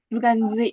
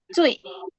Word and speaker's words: 最: Terus yang paling bawah itu bukan zui tapi cuy. Bacanya pakai z-nya jadi c.